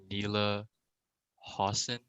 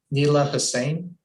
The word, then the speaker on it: Neela Hossein: Is it Neela Hossein? Neela Hussein.